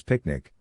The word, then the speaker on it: PQNK: PQNK to be pronounced as picnic which stands for Peter Kratinam cashiari and means the regenerative and sustainable pristine organic farming system.